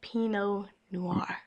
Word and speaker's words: Pinot Noir: I can't say but I just learned how to pronounce it. My favorite wine is Pinot Noir.